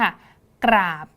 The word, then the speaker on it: กราบ: กล้ำ แท้ นะ คะ จะ เป็น คำ ที่ อ่าน ออก เสียง 2 อักษร นี้ พร้อม ๆ กัน นะ คะ ฟัง ครู อีก ครั้ง นึง ค่ะ กราบ เห็น ไหม คะ ก